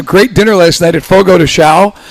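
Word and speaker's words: Fogo de Chão: dinner last night at Fogo to Sha is Fogo to show. We all been mispronouncing that one, too.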